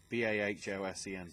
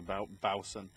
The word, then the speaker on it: Bahlsen: Because apparently that's how it's pronounced. Even though it's clearly like, oh no, Bahsen, so Bahlsen actually makes sense.